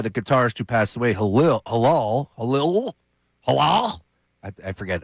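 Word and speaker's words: Hillel: And he got talked into it by the guitarist who passed away, Halal. I forget how to say his name. Halal? Yeah, Hillal.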